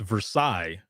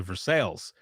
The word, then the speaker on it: Versailles: there's a road um it's versaille but everyone would always say for sales or versalis and i remember when